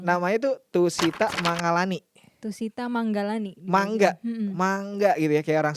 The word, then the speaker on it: Mangalani: Tapi G-nya 1 tuh kalau di bio. Iya, jadi karena itu kan bahasa Sanskrit ya, bahasa Sanskerta. Terus N-nya itu biasanya ada titik gitu di atas ya, jadi dibacanya eng. Jadi Manggalani.